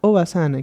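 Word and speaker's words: おばさん: Y bueno, nuestro segundo ejemplo es este, en el cual nos vamos a enfocar a la pronunciación. Primero tendríamos aquí a Oba-san, que es abuela, y acá tendríamos a Oba-san, que es tía.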